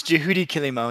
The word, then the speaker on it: Juhudi Kilimo: you have to tell me the right pronounce pronunciation of this dude it's it's Judy kilimo yes your clothes Rudi all right that's right